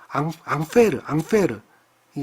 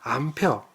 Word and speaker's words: 암페어: 암페어라고 그러죠 안 펴 이거는 이제 사람 이름이에요 앙페르이 사람의 이름인데 그 사람의 첫 번째 문자 a를 따서 암페어 암페르라고는 안 하고요 발음상 그런 거고요 암페어라고 하는 단위로 읽는다